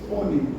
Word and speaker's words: onisciente: Não é uni, é oni. Uni é único, oni é todo. Onipotente, onisciente, onipresente. Na pronúncia de acaba errando e falando uni, cuidado. É oni. De omni no grego, todo.